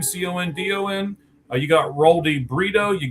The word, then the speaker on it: Condon: Charlie Condon, I believe is how you say his last name, Condon.